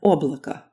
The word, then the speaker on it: облако: Next up is O, as in облако.